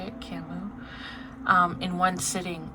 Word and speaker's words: Camus: Camus.